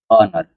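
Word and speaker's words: honour: बी I would be ऑनर क्या है? ऑनर ठीक है एच सी को मानो कि साइलेंट है ऑनर जब ऑनर का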